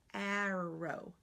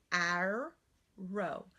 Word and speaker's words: arrow: look at this word notice how I'm saying it arrow arrow I'm using the back so the first syllable is error aa row o our row now it's not our row it's not our we don't say our row I'm gonna shoot an arrow its arrow so what I want